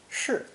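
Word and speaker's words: 室: roof radical the combination pronounced fourth tone sure it means a room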